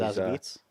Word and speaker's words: Zazie Beetz: She was Zazie Beetz? Yes, you pronounced it right.